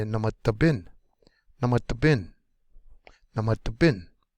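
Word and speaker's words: namadabin: Last syllable is going to be the most accented. So we would say namata bin, namata bin, namata bin.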